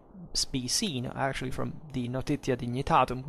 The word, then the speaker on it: Notitia Dignitatum: As it can be seen, actually, from the Notitia Dignitatum we made, or Notitia Dignitatum by that time in ecclesiastical pronunciation, we made a video